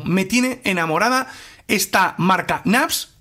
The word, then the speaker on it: Knafs: marca y es que la palabra naps o la marca naps viene de pronunciar mal knights o con un acento Sureño de los Estados Unidos en el que naipes con v Nights bueno soy español no sé si lo pronunció bien nites se convierte en naps es un dato muy